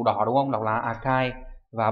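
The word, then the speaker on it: 赤い: Đọc là Akai.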